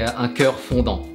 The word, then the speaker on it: un cœur fondant: I keep saying ganache texture, but actually, if you're French, we say un cœur fondant.